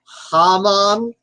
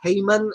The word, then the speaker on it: Haman: He's going to keep at this until it's actually probably pronounced closer to Haman, but I was taught the story with it being pronounced Haman, and I knew if